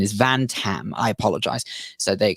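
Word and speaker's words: Van-Tam: the university of rochester i think it's professor tam lam if i'm not mistaken i really hope i've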